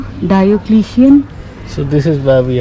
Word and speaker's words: Diocletian: So the palace of, how is it pronounced? Diocletian.